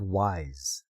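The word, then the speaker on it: W'Z: And it's called Wise. That's spelled W apostrophe zed. Wise.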